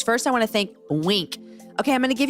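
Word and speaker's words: Winc: All right, guys, I want to introduce you to Wink. You spell that W-I-N-C.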